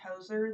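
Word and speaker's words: Hozier: And the first time that I heard him, he reminded me, I think it's pronounced Hoser, the one that sings Take Me to Church.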